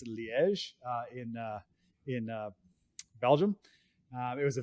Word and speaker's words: Liège: It was most widely known in the city of I'm going to pronounce this terribly. I think it's Liège in Belgium.